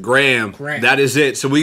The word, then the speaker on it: GRHM: How do you say your rap name? Graham. We got Graham. Spell it. It's GRHM. Graham.